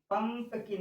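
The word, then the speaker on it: pumpkin: brinjal brinjal mean बैंगन पंपकिन यू के बाद डबल कन्सोनेंट है तो यू को अ पढ़ा जाता है ज्यादा ज्यादा जगह में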